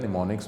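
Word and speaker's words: mnemonics: इसको in place of numbers known as को निमोनिक्स इसको प्रोनाउंस किया जाता है निमोनिक्स में।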